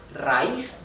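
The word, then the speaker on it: raíz: ayatus a and I they are separated in different syllables and the I which is the weak syllabus the weak vowel is where the the accent or the stress or the intonation goes okay rice so therefore it carries a tilde the line next we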